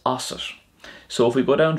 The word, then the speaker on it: asat: And then it's not os to, it's osset.